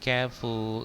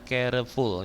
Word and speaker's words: careful: Bacanya jangan careful ya. Jangan 3 syllable. Careful jangan, tapi bacanya careful, dua syllable ya, 2 syllable careful. Salah kalau bacanya careful, itu kan 3 tuh, careful, bacanya 2 careful, itu yang benar ya.